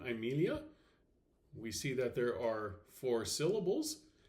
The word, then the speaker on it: Amelia: diagram, we discover that the penult is short, therefore the accent will fall on the antepenult. And there it is. I have circled it so that you can see it. It is pronounced Amelia, not Amelia, but Amelia.